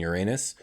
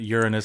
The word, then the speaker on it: Uranus: Hence why I pronounce it Uranus and not Uranus.